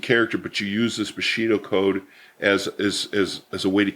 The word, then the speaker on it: Bushido: And I always tease you because I never can pronounce it. And it's Bushido, right? Yeah, Bushido. Bushido.